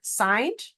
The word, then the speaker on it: signed: spelling is the word signed because we don't hear the G in there the g is silent which makes it a